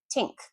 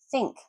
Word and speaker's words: think: Now, part of improving your pronunciation is developing your ear. So when you hear yourself say tink, your ear should go, oh, that's not right. And you hear yourself saying think, oh, that's better.